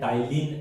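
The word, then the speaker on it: ptyalin: ये है टाइलिन amylase, P यहाँ पर साइलेंट रहता है, टाइलिन अमाइलेज, ये इन दोनों का ही नाम है।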